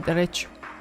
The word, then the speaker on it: derecho: It's the only way you can pronounce it, derecho. Well, that's if you have any Spanish knowledge at all.